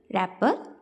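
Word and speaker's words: wrapper: इसी तरह रैपर में भी डब्ल्यू को सर्कल करेंगे, लैम्प में आप बी को सर्कल करेंगे, डिज़ाइन जी और लिसन में टी को।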